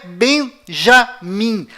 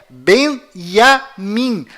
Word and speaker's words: Benyamin: Além disto, não é Benjamin. A pronúncia correta é Benyamin. Pois lembre-se, até hoje não existe em hebraico nenhuma letra com som de J. Confira, é Benjamin Netanyahu.